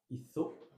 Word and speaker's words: hizo: Je t'écoute pour la prononciation du verbe hacer, faire au passé simple en espagnol. Querido Mathias. Hice, hiciste, hizo.